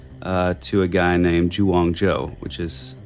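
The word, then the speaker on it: Zhuang Zhou: credit actually goes uh to a guy named Wong Joe which is it's spelled z h UA n g z h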